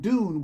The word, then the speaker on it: Dunne: And Dune, which is spelled Dunne, they found that through mental concentration family.